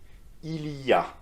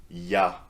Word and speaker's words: il y a: more important in speaking its pronunciation is and you can repeat that after me Ilya very often in familiar context French people say yeah so you completely drop the eel in front right and just say yeah